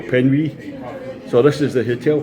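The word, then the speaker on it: Penwig: to New Quay, and I've been told the hotel can be pronounced the Hotel Penwy.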